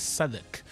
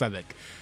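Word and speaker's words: Southwark: I said young man the name is Saddak. It is not. I was like okay. So yeah uh it misspel Southwork but they say it is pronounced Saddak and so yeah that's where Thomas was earlier today.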